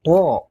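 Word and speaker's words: طاء: tengah dan di akhir namanya th bunyinya mirip huruf ta cuman agak tebal dan kayak ada unsur h-nya th th th perhatikan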